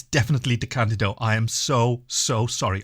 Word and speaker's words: DeCandido: little bleep um everywhere where I say his name wrong it's definitely D candido I am so so sorry okay okay back